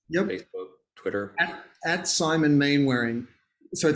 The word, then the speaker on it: Mainwaring: At Simon Mainwaring. So I say Mainwaring here because that's how it's spelled.